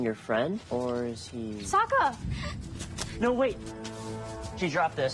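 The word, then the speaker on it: Sokka: in this you lost my name's Saka rhymes with with AA and waka waka it's a Muppets reference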